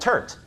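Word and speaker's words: TERT: is multiple variants in a gene called Turk I don't know if you remember from the beginning but this is telomerase reverse transcriptase it rhymes with dirt and it's important our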